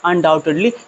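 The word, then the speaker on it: undoubtedly: अनडाउटेडली इसमें यू को नहीं पढ़ा जाता। इसे पढ़ेंगे अनटेडली पढ़ेंगे। अर्थात यहां पर बी जो है साइलेंट है।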